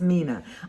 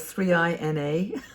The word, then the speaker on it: Mina: It's actually Mina. It's pronounced Mina. I thought it was 3INA.